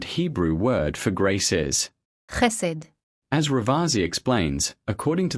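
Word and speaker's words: חסד: So once again, this is how this word is pronounced. Hesed.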